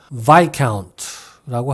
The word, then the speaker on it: viscount: viscount나 viscount가 아니라 viscount라고 합니다. 이 말은 프랑스 사람 이름인데 우리말 외래어로는 루이라고도 하고 루이스라고도 하는 것 같은데요.